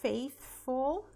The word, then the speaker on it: faithful: Então, a gente tem que praticar aqui, né? Porque o TH... Muitas pessoas confundem com o som de F, mas não é som de F, ó. Para pronunciar o TH, a gente coloca a língua entre os dentes e solta um arzinho, né? Então vai ficar th, th.